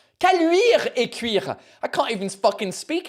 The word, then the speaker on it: Caluire-et-Cuire: I mean, if you can pronounce the name of this city, Callure-et-Cuire. Caluire-et-Cuire.